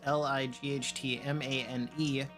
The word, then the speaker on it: Lightmane: It's spelled just the way it sounds, Lightmane.